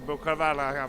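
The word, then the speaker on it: Botkoveli: Monsieur Bokavala. That is the correct way to pronounce the name.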